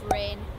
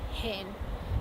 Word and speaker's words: rain: So for example, instead of saying run, maybe saying hun, or instead of rain, they say rain.